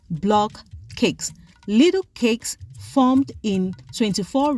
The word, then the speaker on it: block cakes: cakes in the market consumers call the bread based on their own phonetics hence the reason why the bread has multiple pronunciation and spelling some of which are blockade blockade blocket blockade hence the real name for this braid is block cakes little cakes formed in